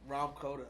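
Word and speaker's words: Rahm Kota: Ram Koda.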